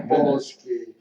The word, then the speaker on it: Jampolsky: What I tell everyone is yam rhymes with ham, pole is in pope, ski is in slow. Okay, Oh my Jampolsky.